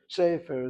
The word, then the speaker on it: sefer: And among the Ashkenazim, this is already a field day for them because they have a tendency of not hitting the last syllables to begin with, whatever it is, the last syllable. They like to hit the syllables before. So for an Ashkenazi, sefer is very normal for them to say. It's the Sephardic pronunciation that we're concerned about in Hebrew.